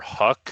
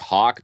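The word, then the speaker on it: Houck: one uh stephen matson tanner huck is how you say it uh i think it's hawk but like yeah it's not like you were off by totally it could also be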